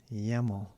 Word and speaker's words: YAML: with him today uh yammel rhymes with camel yamo blah blah yes